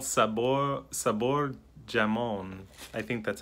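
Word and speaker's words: jamón: Or it's hamon. Hamon. That's how you pronounce the J.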